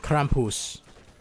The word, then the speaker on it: Krampus: out of yeah and Krampus that's how you pronounce it not Krampus Kamp Kampus Kampus Krampus